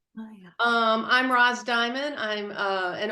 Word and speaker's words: Mayya: Is Mayya how you say it? Yes, yeah, that's Mayya? correct. Mayya.